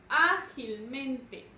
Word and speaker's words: ágilmente: Entonces, ¿dónde recae la mayor fuerza de voz de la palabra ágilmente? Ágilmente. Recae su mayor fuerza de voz en A. Ágilmente.